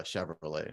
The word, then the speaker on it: Shavrolet: the artist's name uh Chevrolet Chevrolet cool spelled like Chevrolet but with an S and an a instead of the E right yeah it's like